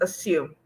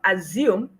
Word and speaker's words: assume: Yes, the word is assume, not assume or assume. Okay. So that word is assume. The S retains the sound S, okay? The sound S, while the A takes the schwa sound.